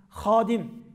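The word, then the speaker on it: hâdim: bakın burada daha önemli Hadim hizmetkâr demek Ama Türkçedeki Hey yoksa khadim yıkıcı demek bazı kelimelerde telaffuz önemli Hadi Kur'an'ın hadimleri hizmetkârları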